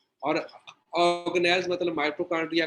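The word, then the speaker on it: organelle: Cell के अंदर उसके ऑर्गेनेलिज कौन से, इनको बोलते हैं ऑर्गेनेल्स। लिखने में स्पेलिंग ऑर्गेनेली बनते हैं लेकिन ऑर्गेनेल पढ़ते हैं एक्चुअली, ठीक है।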